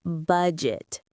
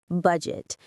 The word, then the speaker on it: budget: The pronunciation is budget, budget. The D and G make a J sound, like in the name John. Budget. Stress on the first syllable.